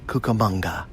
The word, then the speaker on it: Cucamonga: 365 today the adventure brings us to Rancho Cucamonga California does say it right Lyndsey Cucamonga that's